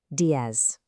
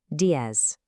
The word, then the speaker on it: diez: In a lot of Spanish-speaking regions, that Z is pronounced with a soft S sound, while in parts of Spain, it might sound a bit more like a th.